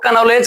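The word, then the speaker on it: knowledge: लेकिन का को नहीं उच्चारण करते हैं। क्यों से सुनो कोई भी अगर एन शब्द है ठीक पहले या के ठीक बाद एन शब्द का इस्तेमाल होता है वहां पर के का उच्चारण नहीं हो के वो साइलेंट हो जाता है एक और स्पेलिंग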